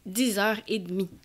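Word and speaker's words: dix heures et demie: Y pronunciamos así: dix et heures et d'mi.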